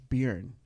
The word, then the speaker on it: Bjorn: Bjorn.